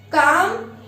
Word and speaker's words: calm: Calm. L is silent.